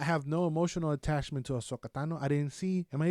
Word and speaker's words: Ahsoka Tano: I have no emotional attachment to Ahsoka Tano.